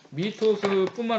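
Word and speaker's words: 뮈토스: 이 미토스를 표기하는 데 있어서도 미뿐만 아니라 우가 나오면 미토스도 된다라고 하는 거예요. 미토스뿐만 아니라 미토스도 된다 이런 얘기거든요.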